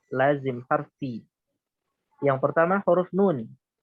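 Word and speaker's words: نٓ: Yang pertama huruf nun. Ejaannya seperti apa? Kita lihat tabel setelahnya. Ejaannya nun. Dibaca Nu. Nah, ejaannya ini dibaca 6 harokat dan menjadi mad lazim harfi.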